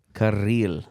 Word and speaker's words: Kirill: Kirill. It's like a key and a reel put together. Kirill. But you have to Kirill. roll your R's. You have to roll the R.